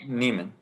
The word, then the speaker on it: Nieman: mind mine is uh is it neiman lab or nyman lab harvard's diamond lab niemann lab i don't know how to say it whatever it is um neiman thank you is it thank you